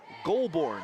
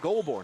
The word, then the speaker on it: Goulbourne: 55 is Nicholas Goulbourne, the sophomore. Looks a lot worse than it is. G-O-U-L-B, Golb, Bourne, like Jason Bourne of the movies, B-O-U-R-N-E, Goulbourne out there.